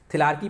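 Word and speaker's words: thelarche: कुछ लोग थिलार्की पढ़ते हैं, कुछ लोग थिलार्चे पढ़ते हैं। ठीक है, कई बार हर एक बोर्ड ने, कमीशन ने अलग अलग इसका प्रोनाउंसिएशन किया है, तो ये थिलार्की पढ़ा जाता है।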